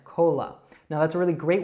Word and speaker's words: Cola: So we don't say cola, we say cola. It's like a very reduced short sound there, cola.